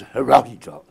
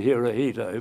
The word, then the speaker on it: Hirohito: So he was able to tell the emperor, and we had to pronounce the emperor's name as Hirohito. I think most of you will probably call him Hirohito, but Yukao was able